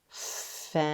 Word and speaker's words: fence: it fast fence yeah if you see C at the end of a word the E is silent and the C says its s sound s let's try one